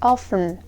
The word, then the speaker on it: often: about the word often you can pronounce it where often without tea or often with the sound T so usually British people will say with tea Sun often so that sounds alright don't worry about it and don't forget